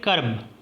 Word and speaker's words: کرب: کرتے ہیں۔ کلمہ ہے کرب۔ یہ عربی سے ماخوذ ہے، یعنی عربی الاصل ہے۔ درست تلفظ کاف پر زبر ہے اور را جو ہے را اور با ساکن ہے۔ معنی تکلیف، غم، رنج،